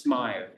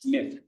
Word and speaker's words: Smyth: Smith, that's not pronounced Smythe, it's Smith.